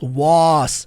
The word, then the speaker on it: was: Presta atenção nessa letra aqui, ó. Was? Was? Som do Z. Outra coisa importante, gente. Você sabia que esse was tem o mesmo som da palavra love, de amor? Tem o mesmo som da palavra does.